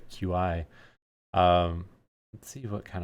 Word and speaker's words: Qi: But so I noticed something during the announcement too, in that I believe there's multiple I guess it's pronounced key. I always said QI.